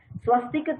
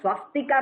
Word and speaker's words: swastik: So it is not swastika karna, it is swastik karna.